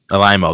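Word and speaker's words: Alaimo: How do you pronounce his last name? Mark Alimo, that's what it.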